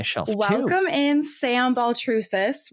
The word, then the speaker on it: Baltrusis: Welcome in, Sam Baltrusis, right?